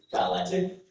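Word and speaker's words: balletic: And I'll actually correct my pronunciation here. Uh to give you a better pronunciation. Your word is balantic.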